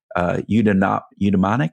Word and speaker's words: eudaimonic: And if we live too far into the purpose or the eudaimonic, how do I pronounce that?